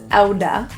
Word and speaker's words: out of: Out of becomes ouda.